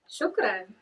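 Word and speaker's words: شكراً: Shukran.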